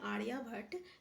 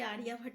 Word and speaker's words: आर्यभट्ट: यहाँ पे देखिए, क्या आप जानते हैं खगोल शास्त्री जिसका नाम है आर्यभट्ट, sorry I am really sorry, आर्यभट्ट हम बोले आर्यभट्ट, आई am really sorry, थोड़ा सा प्रोनाउंसिएशन में गलती हो गया, आर्यभट्ट।